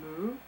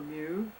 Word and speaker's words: Mu: sometimes abbreviated as the single syllable Mu, Uh-huh. or Mu, depending on who you speak to, and that it was